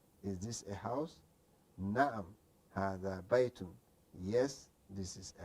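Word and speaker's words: هذا: But when you pronouncing it, say ma hadha, it's supposed to be alif between the ha and the da. Okay, but they eliminated.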